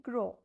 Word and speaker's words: gros: So the example here is GROS. Its pronunciation will be grow, not from your nose, grow.